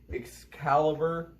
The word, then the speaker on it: Excalibur: Hello guys, I am back to fill in this request of the Hoover Turbopower 3500 versus the Eureka Excalibur.